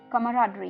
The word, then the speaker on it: camaraderie: तो 9वां वर्ड इस शाम का दोस्तों है कमराडरी। जी हाँ दोस्तों, कमराडरी। आई नो थोड़ी सी प्रोनाउंसिएशन अटपटी है, ध्यान से सुनिए।